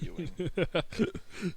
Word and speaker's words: Ewing: yeah, it's literally EWING. Yeah, it's literally a verb for being gross.